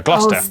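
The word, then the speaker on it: Gloucester: amongst you through a couple of Basics is pronounced stir Lester wer gluster w at the start of the final syllable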